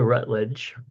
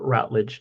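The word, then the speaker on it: Routledge: So, actress Dame Patricia Rutledge, or Rutledge, depending on how you want to pronounce it, who basically played Hyacinth's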